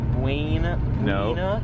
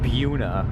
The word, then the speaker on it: Buena: I got to tell you, Jeremy, you're pronouncing that wrong. We're in New Jersey. Is it Buina? Nope. Buuna.